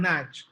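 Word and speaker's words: Naish: I said Okonkwo and Nach. Okonkwo. Sorry, ma. Okonkwo and Nach is spelled N-A-I-S-H.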